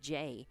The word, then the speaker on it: Jai: and she said that this player's last name is pronounced Jay. It is spelled J-A-I.